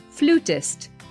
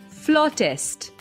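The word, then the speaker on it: flautist: pronounce flute as flute so sometimes people may pronounce it as flutist but that's not the right way it's supposed to be floor test another word is niche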